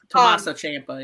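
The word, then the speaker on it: Tommaso Ciampa: not a gimmick Tama how do you say his name Tomaso sampa I took me forever to say that yeah Tomaso Champa yeah Tomaso Champa I it looks like sampa Tomaso again he's a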